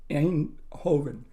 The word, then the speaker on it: Eindhoven: of Yogatrainer, the place for expanding awareness in Eindhoven.